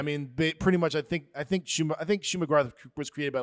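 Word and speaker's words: Shuma-Gorath: Now, I will say, again, I'm more of a DC guy, so I was not familiar with, how do you pronounce it? Shuma Gorath.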